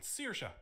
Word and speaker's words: Saoirse: Connor, in his usual fashion, rocks up with a girl called Saoirse. Yes, Saoirse. That is how it's spelt.